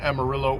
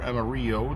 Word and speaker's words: Amarillo: Columbus Cascade Centennial and Amarillo or Amarillo depending on how you want to pronounce it and has a